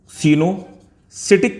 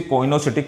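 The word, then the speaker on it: coenocytic: इस multi nucleate condition को सिनोसिटिक condition बोलते हैं। कुछ लोग इसे कोइनोसिटिक प्रोनाउंसिएट करते हैं, that is wrong pronunciation. Actually इसे हम सिनोसिटिक कंडीशन बोलते हैं।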